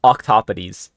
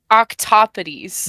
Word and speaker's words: Octopodes: Yeah, Octopodes. Octopodes. Yeah. I'm gonna need to say that over and over and over again. Yeah. So Octopodes went 15-0.